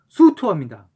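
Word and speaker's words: 粟特: 그리고 속특의 중국어 발음은 수투어입니다.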